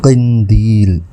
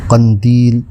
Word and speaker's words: قندیل: نئے لفظ کے ساتھ۔ آج کا لفظ قندیل، درست، قندیل غلط۔ اس کے معنی ہیں